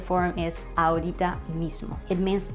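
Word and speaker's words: ahorita mismo: and some people say orita mismo instead of aurorita Miss small the thing is that they don't pronounce the a which the first letter of the first word so instead of saying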